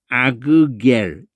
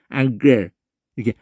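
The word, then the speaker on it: ἀγγελ: 왜 앙겔이라고 발음하냐면 기역이나 이 혀뿌리 소리거든요. 기역이나 키역이나 이런 것을 두 번 발음하기가 힘들어요. 그러니까 이게 하나 앞에 것이 이 두 개를 한다면 이런 식으로 되거든요. 아그겔 이렇게 한단 말이에요. 근데 그렇게 하려고 그러면은 힘들어요. 빨리 발음하면은 앙겔 이렇게 앙겔 이렇게 되는 거예요.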